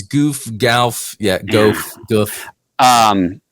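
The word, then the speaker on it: Gouf: never say it right yeah I know it's goof gal yeah goof goof um even even with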